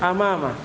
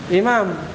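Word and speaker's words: أمام: Wahia, dan dia adalah yang pertama al-awwalu amama, depan, amama. Amama kata beliau bi fathil hamzati. Cara bacanya di fathah hamzanya. Sebab kalau di kasro imam, walaupun ada kaitan mananya ya, imam juga di depan.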